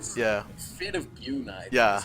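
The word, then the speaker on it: Bjuna: Looks like we have a Fate of Bungia casted on the Demigryph Knights. Yeah. I don't know the name of the spell. Yeah. Fate of Buna, Yeah, is how it's yeah.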